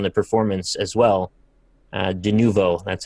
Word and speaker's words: Denuvo: Uh, denuvo, that's how you say it.